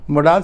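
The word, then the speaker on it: modal: हूँ next videos में, मोडाल है। मैंने देखा है कुछ टीचर्स कहते हैं 10 मोडाल्स हैं, कुछ टीचर्स कहते हैं 12 मोडाल हैं। मोडाल्स जितने भी हैं, जो मॉडल इसका राइट प्रोनाउंसिएशन है, मोडाल जितने भी हैं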